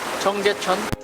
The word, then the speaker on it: Cheonggyecheon: Young, can you pronounce Cheonggyecheon? Cheonggyecheon.